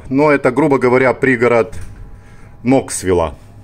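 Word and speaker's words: Knoxville: Штат Теннесси, городок Алкоа, Алкоа через Си, Элкоа или Алкоа, но это, грубо говоря, пригород Ноксвилла. Ноксвилл пишется через Кей, но произносится без Кей, Ноксвилл. И рядышком здесь Алкоа.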